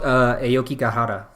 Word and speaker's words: Aokigahara: It's called Aokigahara. So yes. Maybe if you know who Steve Aoki is, that's how I know how to pronounce that.